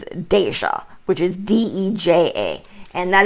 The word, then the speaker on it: Deja: I call this person's names Deja, which is D-E-J-A.